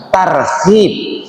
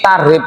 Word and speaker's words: tarhib: Kalau bacanya tarhib. Saya sering mendengar ini acara tarhib. Nek tarihi itu jadinya meden-medeni artinya meden-medeni atau menyakit menyakiti.